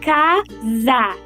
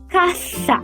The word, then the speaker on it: casa: Um exemplo que podemos dar é da palavra casa, que em português pronunciamos como uma africativa sonora, casa. Entretanto, no espanhol se pronuncia caçá como uma africativa surda. Caá.